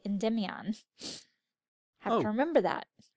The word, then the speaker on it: Endymion: And I'm still saying it wrong because apparently I've said it wrong my whole life because in this version they say Endymion.